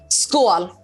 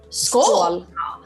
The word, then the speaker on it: Skål: that how do you say cheers in swedish school school school yeah superna what are we choosing to slash